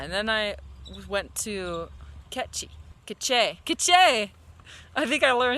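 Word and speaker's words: Quiché: Oh yeah, and then I went to Queche. I think I learned how to say it right. I keep saying it wrong. It's not, it's obviously not quiche, but yeah.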